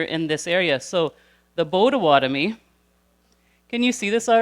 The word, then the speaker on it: Potawatomi: So we already heard one nation from this little guy over here, which was the Potawatomi. But you know what? It's actually pronounced the Bodawatomi.